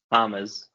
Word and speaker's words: James: Hamez, but we'll work on your pronunciation.